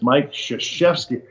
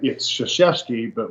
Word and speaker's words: Krzyzewski: And I said, "It's Mike Krzyzewski, but it's spelled you look at it, it's like, Krzyzewski, crazy. I couldn't. He goes, well, it's Krzyzewski, but we call him Coach K.